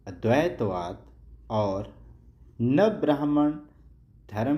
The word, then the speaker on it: अद्वैतवाद: Next question है, अद्वैतवाद सही जो इसका उच्चारण है अद्वैतवाद और नवब्राह्मण धर्म की स्थापना किसने की?